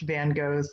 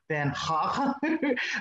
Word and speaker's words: Van Gogh: be something closer to Van H but I'm just going to do it the American way which is Van go and I'm also going